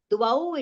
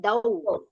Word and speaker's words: द्वौ: Now dvau it is. You recited dau. Dvau and dau. The wa is missed over there.